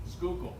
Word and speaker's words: Schuylkill: I'm not going to say the word because I can't pronounce it. Schuylkill. What is it? Schuylkill.